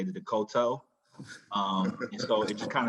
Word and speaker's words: Decoteau: The pronunciation is Decoteau, and your name is spelled D-E-C-O-T-E-A-U.